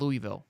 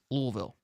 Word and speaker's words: Louisville: It's not Louisville. It's Louisville. That's actually how it's pronounced.